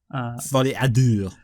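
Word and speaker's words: Folie à Deux: That's how you pronounce it as well. Folle à Deux.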